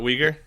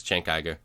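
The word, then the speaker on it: Cenk Uygur: Turkey so yeah oh is that how he pronounce it not weager yeah it's chank Iger um you're not a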